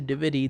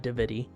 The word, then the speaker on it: Divi: it's more attached to Dividi than it is to her. Also, I've been saying his name wrong. It's Divi, not Dividi.